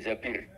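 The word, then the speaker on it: زبير: Kemudian saya nikah sama Abdurrahman bin Zabir. Di hadis ini bukan bacanya bukan Zubair, tapi Zabir. Abdurrahman bin Zabir.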